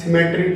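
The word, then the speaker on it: cemetery: अब दो वर्ड फिर सीखने को मिलेंगे, CEMETRY, सिमेट्री। एक तो ये होता है, एक होता है SYMMETRY, सिमेट्री। एक ये होता है। Both are the pronunciation same, not pronunciation, pronunciation same.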